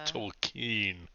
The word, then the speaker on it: Tolkien: It's pronounced Tolkien.